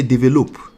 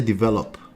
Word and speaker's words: develop: Kind of like we don't say develop here. We say develop. Right?